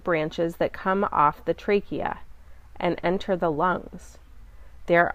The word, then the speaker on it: trachea: in the respiratory cycle is described next trachea tra CH e a the CH is pronounced like a que trachea the windpipe the